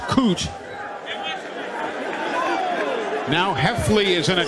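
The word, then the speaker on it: Koht: they'll say the play loses about a yard his last name is spelled k-o-h-t it's pronounced cooch now Heffley is in a quarterback for Middle Tennessee hefley with a handoff that gets a yard out to the 30.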